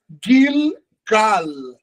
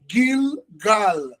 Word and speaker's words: Gilgal: Mas se essa expressão fosse no grego, na verdade, ela é Gilgal. Gilgal. Porque o G é gutural.